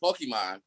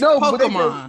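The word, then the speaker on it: Pokémon: The song it emphasizes the E so heavily in the song. Again, you're listening to Americans say it. But it's Pokemon.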